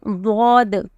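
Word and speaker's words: ض: But in bod, the tip is not included. Okay, try this. This is the most difficult of all the letters. Okay, so you have to keep practicing this letter. So it is bod.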